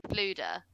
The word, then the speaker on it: Fflewddur: To be fair, I know that you're struggling with his name, Fluder, but it is spelled Fflewddur. Yeah. So what chance did you have? It's a Welsh name.